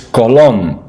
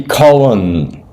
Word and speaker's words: Colón: Now in Italian in Spanish it's Colón. Colón. Right. Now so that should be Colón.